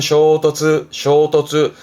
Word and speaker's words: 衝突: 이게 충돌. 발음은 쇼토츠.